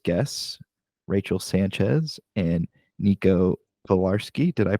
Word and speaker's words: Pilarski: He's got a little tied up at the moment, but I'm happy to share our latest guests, Rachel Sanchez and Nico Pilarski. Did I pronounce that correct?